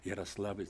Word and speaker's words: Ярославль: из Саратова там шикарный вот там шикарная школа правильно говорить Ярославль там первый профессиональный актер Волков был Крепостной он